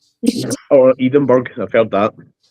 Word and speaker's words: Edinburgh: We pronounce it the Iowa way. Edinburg. Oh, Edenberg. I've heard that. It's Edinburgh.